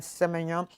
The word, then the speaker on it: Semenyo: Semenyo. It's how they pronounce his name first.